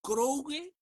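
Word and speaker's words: κραυγή: se traduce como gritería o como vocerío y y se pronuncia en griego krogue porque viene así como de grasnar, como cuando los cuervos están grasnando.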